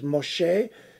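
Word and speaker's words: משה: reason for the name the name in hebrew for moshe moses is moshe some of you might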